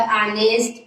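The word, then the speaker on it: honest: अब देखिए जैसे यहाँ पे आनेस्ट है, इसमें भी बोलते हैं, इसमें देखिए ये साइलेंट बताते हैं कि फर्स्ट लेटर क्या होता है आपका जो है, साइलेंट होता है।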